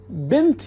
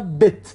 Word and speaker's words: بنت: بنت یا بت دوستان به صورت یعنی نون گاهی تلفظ نمیشه، بت یا بنت همون دختر هست.